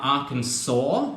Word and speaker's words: Arkansas: in the words Alabama Arkansas spelt funny with that S on there but you don't pronounce the S I do love my